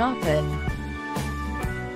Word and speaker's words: often: Maybe even pronounce the T in often.